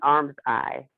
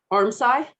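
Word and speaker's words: armscye: single time i open adobe and it's an arm's eye is how it's pronounced arm side arm die thank you very much i knew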